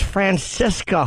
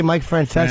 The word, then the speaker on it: Francesa: And he said, I thought it was Francisca who left. What? He meant to say Mike Francesa.